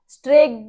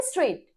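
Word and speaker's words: straight: फाई टी, फाइट, फाइग्ड नहीं बोलते, ठीक है, स्ट्रेक्ड नहीं बोलते, ठीक है, तो आप इसे क्या बोलेंगे, स्ट्रेट, तो जी एच इज साइलेंट हियर।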